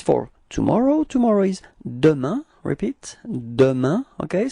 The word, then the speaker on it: demain: And so if it's for tomorrow, tomorrow is demain. Repeat. Demain. Okay? So it's ending with this A-I-N. Keep in mind that we do pronounce it like un.